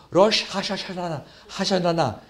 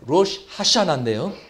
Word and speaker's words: 로시 하샤나: 로시 하샤나나 그랬는데요. 로시 하샤나인데요.